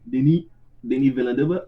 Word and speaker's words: Denis Villeneuve: He's French, like Denis or Dennis, but French movie saying Denis Villeneuve.